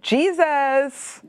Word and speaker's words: Jesus: Bah écoute, ça s'écrit pareil, mais ça ne se prononce pas pareil. C'est pour ça. Je comprends mieux. D'accord, d'accord. Alors Jésus se dit Jesus.